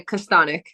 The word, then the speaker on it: Kastanek: yeah for us um in English like we we just say castanic okay so it's pretty